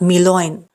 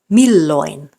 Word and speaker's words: milloin: So it's not siten, it's sitten, not milloin, milloin, not viko, viikko. And lastly, the stress is on the first syllable, meaning these words aren't pronounced Helsinki, tavara, kirjoita.